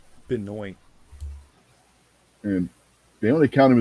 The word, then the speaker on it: Benoit: Some people spell it with only one T. And Chris Benoit. It's Benoit.